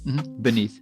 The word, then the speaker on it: beneath: Oh, buried beneath. Beneath. Beneath. El fin es importante, so it's not beneath. Con D. No, it's como D. It's a TH, like a th, but it's beneath.